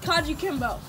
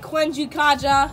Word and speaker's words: kajukenbo: class ready our martial arts class is called kanji kimbo now a lot of people pronounce it wrong we get stuff like kwenju kaja or kaiju kamba yeah but we just call it yeah you